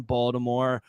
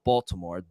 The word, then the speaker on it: Baltimore: I have Baltimore ties, and this kid is beloved in Baltimore. You always got to say it's not Baltimore, Baltimore. That's how they say it down there.